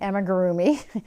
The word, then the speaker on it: amigurumi: all about crocheting um emma gurumi she taught me how to pronounce that word properly emma groomy and llamas so go